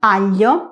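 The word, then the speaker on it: aglio: Como veíamos también en el sonido anterior, necesitamos la i de apoyo porque sin ella tendríamos el sonido glo, como en español, por ejemplo, gloria, gloria o globalem, global. Algunas palabras que presentan el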